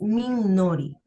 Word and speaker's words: Minori: O sea, nadie lo pronuncia, toda la gente fuera de Venezuela no me dice mi nombre como es Minori.